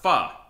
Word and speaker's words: pho: Nice, you guys have pho? We do, it's pronounced pho.